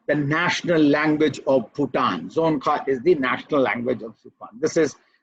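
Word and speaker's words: Dzongkha: behind buddhism and speak you speak the language zonka be this i checked with the google uh how to pronounce and they that's why i'm very confident that i'm speaking right zone zonka is the language uh which they speak and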